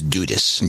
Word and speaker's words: Dudas: Also, pronunciation for my name is Dudas.